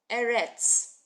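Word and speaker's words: אֶרֶץ: with the ALF but it just makes the sound of the vowel under it so we're reading it e erets so you got to you got to go on the website erit means land land of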